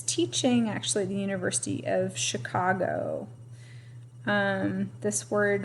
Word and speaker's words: Chicago: actually the University of Chicago this word right here is pronounced Chicago remember I said that CH usually says the Chuck sound but some of our words come from French and so that CH